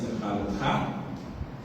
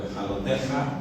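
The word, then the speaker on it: Beha'alotecha: Preguntas muy sencillas sobre la parashá semanal, en este caso Beha'alotha o Beha'aloteja, algunos pronuncian diferente.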